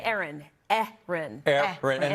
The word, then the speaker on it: Erin: worry you're not alone but what we agree on is that both names are pronounced with two syllables with a stress on the first one the second syllable isn't